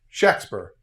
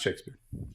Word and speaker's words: Shakespeare: always, but almost always, it was spelled as if there was a short a sound. Shaq and not Shake and so his name was actually pronounced Shakespeare not Shakespeare.